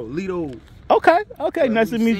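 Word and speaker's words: Lito: they call me Leto Leto l-i-t-o but T is pronounced with a d so Lido okay okay nice to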